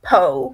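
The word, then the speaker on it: POH: main punishment would be poe which is spelled p-o-h which is privileges on hold you would be stuck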